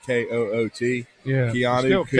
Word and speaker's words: Koht: A dude named Keanu Coot. Just remember that. Keanu Coot. Yeah. KK. It's pronounced. It's KOHT, but it's pronounced like KOOT.